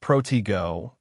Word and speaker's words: protego: It's pronounced protego with a stress on the second syllable and it shouldn't be spoken too fast.